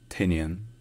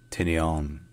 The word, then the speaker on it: Tinian: So this island has two main pronunciations that are either Tinian or Tinian. Tinian or Tinian.